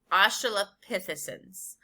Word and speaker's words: australopithecines: as australopithe signs and there's a pronunciation guide i need to really speed up but i want to talk to you about the pronunciation guide um oh la peh the sins australopithecines or southern apes they